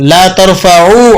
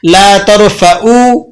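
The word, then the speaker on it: لا ترفعوا: तो ला तरफऊ अस्वातकुम, ला तरफऊ आइन से ना बुलंद करो। लेकिन अगर आप इसको हमजा से अदा करें, यूं अब प्रोनाउंस कर दें ला तरफऊ, तो अब इसके माना होंगे मत मुरम्मत करो। तो मानी में बहुत ज़्यादा चेंजिंग आ जाती है।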